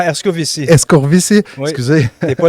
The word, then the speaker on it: Herscovici: J'ai avec moi en ce moment Erskozy. J'ai-tu bien prononcé? Quasiment, Erskovici.